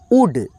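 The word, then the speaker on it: would: ओ यू एल डी यहां पे एल जो है ना साइलेंट रहेगा आड उड ठीक है उल्ड नहीं पढ़ेंगे ठीक है चलो एल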